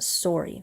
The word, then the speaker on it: Sori: Now I say sorry, but in the song, I pronounce it Sori, and it's kind of a double meaning. Sori as a reference to the way a lot of Canadians say sorry, and Sori as a